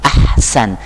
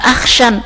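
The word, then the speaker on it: أحسن: Hasan tapi yang Ahsan makanya bacanya yang fasih Ahsan Ahsan itu enak diucapin juga Ahsan Coba kalau orang salah baca ha-nya diganti ko sinnya diganti syin ak Syan yang lebih kasar Bukan ahsyan tapi Ahsan enak didengar pula enak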